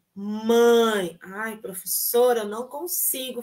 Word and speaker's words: mãe: Então repitam comigo aí pra gente trabalhar a pronúncia dos sons nasais tá bom primeira palavra mãe mãe ai professora eu não consigo fazer esse som